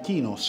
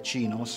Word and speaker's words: chinos: Questi sono classici kinos o chinos o chinos, chiamateli un po', pronunciateli un po' come vi pare. Io credo che la pronuncia corretta sia cinos.